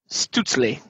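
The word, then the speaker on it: Stützle: said it was we all saw how to pronounce it yes do you want to take your best shot at it tim stootsley yeah i think that yeah i think you nailed it tim stoodsley uh he went to the the senators at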